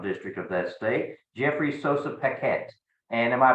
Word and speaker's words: Sossa-Paquette: the second congressional district of that state Jeffrey Sosa Paquette and am I pronouncing that properly you pronounced that perfectly fantastic